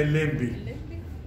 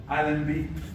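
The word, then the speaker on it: Allenby: احنا الليمبي اللي احنا بنسميه الليمبي، اتفقنا هو ألمبي وليس الليمبي، واتفقنا هو بالفور وليس بالفور.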